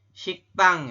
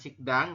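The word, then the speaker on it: 식당: Di sini ada kalimatnya adalah siktang ya, bukan sikdang, tapi kita membacanya adalah siktang.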